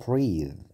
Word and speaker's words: breathe: يتنفس معناها breathe. Breathe. شوف النطق.